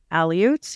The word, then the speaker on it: Aleuts: so were other Alaskan people such as the Aleuts.